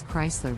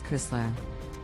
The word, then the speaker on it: Chrysler: popular American brand Chrysler the correct pronunciation is Chrysler with the emphasis on the first syllable many people mispronounce it as Chrysler next up my buy